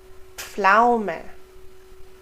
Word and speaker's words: Pflaume: We also pronounce the P and the F. Pf, Pfennig, Pferd, Pflaume, Pfund.